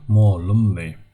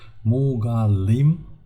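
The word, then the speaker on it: mugallym: So ol muallim, mugallim, this is how it's written, but we say it muallim. It depends on the it depends on the regions where it's pronounced, but usually muallim, not mugallim. Mugallim, it is written form.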